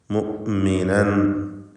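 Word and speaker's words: مُؤْمِنًا: മുഅ്മിനൻ ഖദ്, മുഅ്മിനൻ, ഇവിടെ ഹംസയുടെ ഉച്ചാരണം പ്രത്യേകം ശ്രദ്ധിക്കേണ്ടതാണ്. മുഅ്മിനൻ എന്നോ മുഅ്മിനൻ എന്നൊന്നും ആയി പോകരുത്. ഹംസ ഷിദ്ദത്തിൻ്റെ ഹർഫാണ്. മുഅ്മിനൻ എന്ന് വ്യക്തമായി ഹംസ ഉച്ചരിക്കുക. മുഅ്മിനൻ ഖദ്, ഇവിടെ സാക്കിനത തൻവീനും ശേഷം ഖാഫും വരുന്നുണ്ട്.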